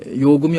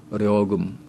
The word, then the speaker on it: 요금: 발음으로 합니다 리해 그다음에 요금이 얼마다 할 때 요금 이걸 갖다가 북에서는 려금 려금 리로 발음해요 예의가 없다 하는 예의